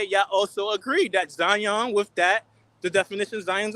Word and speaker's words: Zion: By his first name, one syllable, Zion.